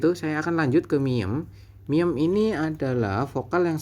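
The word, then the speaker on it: 미음: huruf apa ini kotak ini huruf M gitu miem gitu ya kalau miem itu di taruh di Manap pun yo bunyinya tetap m seperti itu teman-teman ini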